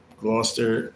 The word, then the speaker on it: Gloucester: It's spelled Glchester, but they call it Gloucester. Gloucester, Massachusetts.